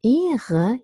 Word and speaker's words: Ehre: But in Ehre, you hear the R because the R is considered to be the beginning of the second syllable. So this is not a post-vocalic R, so we pronounce it.